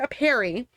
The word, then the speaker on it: apiary: honey, but lost it all when his entire apiary was taken away over 3 months ago. I don't know if I'm pronouncing this right.